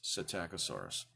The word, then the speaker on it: Psittacosaurus: this is attack asaurus sounds like it starts with an S but the P is silent so it starts with psi TT a Co Sarris psittacosaurus now when you look